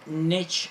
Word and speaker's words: niche: It's a very niche instrument. Niche, that's right pronunciation. Instrument, I think niche is French.